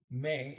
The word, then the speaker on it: med: Jij skal dra, go, a long ways, but this go, dra, till, to, have, the sea, may, med, d is silent, may, with, venena, that's